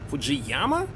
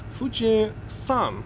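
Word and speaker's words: 富士山: I know people who naming mountain Fuji, like, wait a second, Fujiyama? How so? First of all, in Japanese it's Fuji-san, san means mountain.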